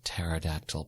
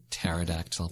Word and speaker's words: pterodactyl: facebook twitter instagram under pterodactyl cries yeah just add pterodactyl problems yeah I like to say Patera dak tile that kind of helps me remember how to spell it yeah the P is silent yeah it's like the